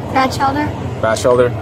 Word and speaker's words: Batchelder: Batchelder. All right, everyone, so your name is Batchelder. Can you spell that for me?